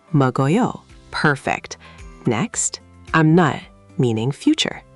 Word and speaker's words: 먹어요: The k connects to a, so 먹어요.